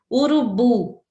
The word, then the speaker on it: urubu: Urubu, o bu é a tônica e as outras são átonas.